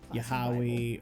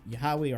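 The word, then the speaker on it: Yahweh: However, it's not how the original Hebrew would have been pronounced. It's a mis uh translation. It would have been Yahawi or uh there's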